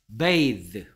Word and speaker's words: bathe: 얘 발음은 뭐가 되느냐? 얘 발음은 뭐라고요? bathe. 됐습니까? th가 드나 스가 된다 했죠. 혀를 살짝 물고 내는 소리 두 가지.